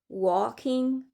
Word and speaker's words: walking: Le L K on prononce pas le L comme walking, talking folk.